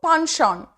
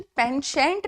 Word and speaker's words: penchant: पॉन्शॉन. ओह, इसका pronunciation पेंशेंट नहीं है, पॉन्शॉन.